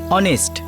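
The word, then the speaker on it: honest: অনেস্ট এইচ দিয়ে শুরু হয় কিন্তু ফোনেটিক্স এর উচ্চারণ মানে প্রনান্সিয়েশন ও দিয়ে হয় অনেস্ট এইজন্য তার আগে এন বসাতে হয় হ্যা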